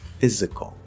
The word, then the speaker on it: physical: It turns out, for example, the word physical. Physical. Now that, again, is an S that's supposed to be a Z. I know, it happens, it's English. But it is a Z sound.